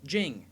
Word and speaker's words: Jing: rang themed alcoholic references Jing in Japanese is pronounced Jin like the drink the chapters are referred